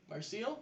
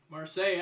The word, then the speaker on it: Marseille: Marseille? Marseille. Marseille. Marseille. I keep Marseille. Don't pronounce the L's, add a few more vowels, and there's Saint French for Marseille.